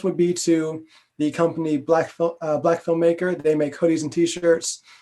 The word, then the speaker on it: BLKFLMMKR: And it's spelled it's no vowel, so it's BLKFLMMKR. So that's Black filmmaker.